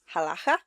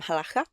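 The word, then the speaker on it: halakha: One, Jewish people performed halaka, I think is how it's pronounced. Um, halaka.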